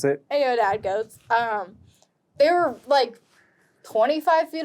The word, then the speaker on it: aoudad: The Aodad. I am probably mispronouncing that.